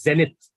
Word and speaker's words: zenith: The pronunciation is zenith.